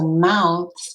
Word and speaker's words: mouths: next word is mouths so it sounds like the word mouth but it's not it's a verb so mouths is when you move